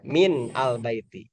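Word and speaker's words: مِنَ الْبَيْتِ: Karena min adalah huruf jar ya, min al baiti. Cara bacanya ini minal baiti.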